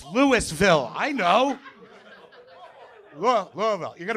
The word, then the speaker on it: Louisville: We're in Louisville, Kentucky. Nobody's from there because you're not correcting me on how I pronounced it instantaneously. It's not Louisville. It's Lewisville.